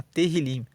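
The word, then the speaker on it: תהילים: Em hebraico, o livro de Salmos se chama Terrilim. Se escreve T-E-H-I-L-I-M e Terrilim significa louvores.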